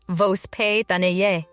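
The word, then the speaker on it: воспитание: A key concept in Russian upbringing is vospitanie, pronounced vospitanie.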